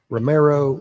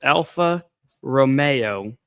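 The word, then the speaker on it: Alfa Romeo: Romero, Romeo, Romeo. What do you What's the proper way to say that? It's Alpha Romeo, spelled Romeo, as my wife likes to say, like Romeo and Juliet.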